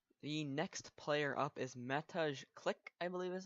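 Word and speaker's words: Mateusz Klich: The next player up is Matej Klik, I believe is how it's pronounced.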